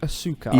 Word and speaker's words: Asuka: But they say it like it's Oscar, And- like it's a guy's name. And now that And- Nigel's started commentating, it's Asuka, Yeah. as in like almost saying like ask her.